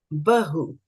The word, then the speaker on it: बहु: Bahu. Bahu. It's soft. Yeah, soft.